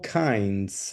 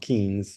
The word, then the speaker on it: kinds: All kinds. Remember, the pronunciation is kinds, not kings, because if you say kind, nobody will understand.